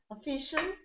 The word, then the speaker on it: official: Official. Okay. Nepal. Official has the second stressed syllable.